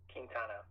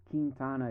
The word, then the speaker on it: Quintana: Quintana Quintana, Quintana.